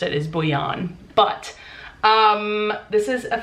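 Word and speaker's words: Bhuiyan: name and i'm pretty sure that's how she pronounced it is bouyon but um this is a fake dating why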